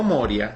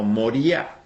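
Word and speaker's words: Moriah: tierra de moría y se pronuncia no moria sino moría moría en el en el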